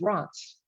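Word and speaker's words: Reims: the city of france is number one they pronounce it as rots i took spanish in high school i don't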